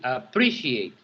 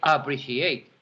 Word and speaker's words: appreciate: appreciate so you see appreciate we don't say appreciate we say appreciate so you see how the second syllable is the stress one so appreciate goes here